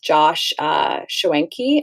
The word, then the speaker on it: Schwenke: and wild game with Josh Schwenke. I think that's how you pronounce his name. Am I correct, Renee, when I say that? Great, yeah.